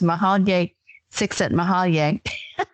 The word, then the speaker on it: Csikszentmihalyi: It's Mahalye Csikszentmihalyi.